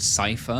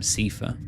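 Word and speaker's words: Seifer: Apparently, he's meant to be called Cipher, but I always called him Cifer.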